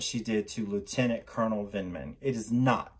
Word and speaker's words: Vindman: Lindman. Please be okay. Please don't be too mad with me getting his name wrong. Hey Google, Lieutenant Colonel Vindman.